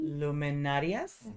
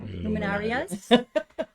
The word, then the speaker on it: luminarias: say it for me one more time luminary luminarias luminarias um they put these candles along you know